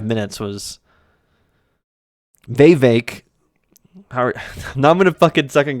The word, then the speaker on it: Vivek: Vivek. We always keep mispronouncing it, maybe. Rhymes with cake.